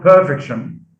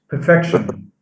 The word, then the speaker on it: perfection: what they would get so it's not perfection it's perfection so stress is shifted from the first syllable to the second okay i u s